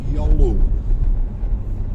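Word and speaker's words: Giolou: side it's written with a Y but it's pronounced as yolow and it's quite a nice Village indeed and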